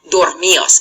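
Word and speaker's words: dormíos: Now you'll notice here that I've had to accent on the I. And that's because an I and an O together would combine to make one syllable, and I don't want to do that.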